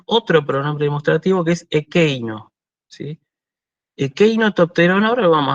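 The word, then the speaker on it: ἐκεῖ: Y equi, perdón, me salió la pronunciación moderna, perdón. Ekei, ¿sí?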